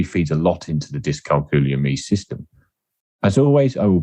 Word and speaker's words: dyscalculia: The right pronunciation is dyscalculia.